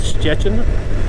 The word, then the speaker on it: Szczecin: So it's northwestern Poland, a city called Szczecin. It's a bit, to pronounce it correctly, you got to have the whole Polish pronunciation. It's like a zh. It's like a zh. Something like that.